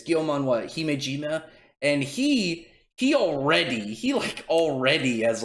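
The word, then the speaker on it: Gyomei Himejima: But they're fighting against I already forgot how to pronounce his name. It's Gyomon Himejima, and he already has like such a goddamn sick power too.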